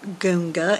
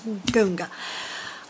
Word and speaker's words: gunga: any more unusual than goonga and we spell it g-u-n-g-a just like it sounds goonga um so i've got